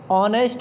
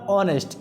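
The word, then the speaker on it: honest: टू आपका ही इज ऑनेस्ट main अब देखिए इसमें जो एच है ना एच यहां पर मतलब एच का उच्चारण नहीं हो रहा है एज साइलेंट वर्ड है यहां पर ऑनेस्ट क्या पढ़ते हैं इसको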